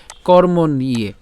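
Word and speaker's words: কর্মণ্যে: ভাঙ্গার চেষ্টা করেছি তো প্রথমটা একটু খেয়াল করুন উচ্চারণটা কেমন হচ্ছে কর্ম নিয়ে ওই যে বলেছিলাম আমরা মূর্ধন্য পর্যন্ত উচ্চারণ করব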